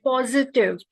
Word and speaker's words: positive: And the pronunciation of positive, it's positive, and she used positive. It's not j, there is no g sound, it's positive.